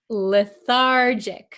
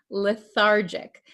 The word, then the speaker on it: lethargic: patient feels weak and can you pronounce this word lethargic remember this is a JJ sound lethargic Okay the patient feels